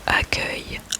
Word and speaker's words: accueil: Il y a accueil, accueil, accueil, accueil, accueil et accueillir, accueillir, accueillir.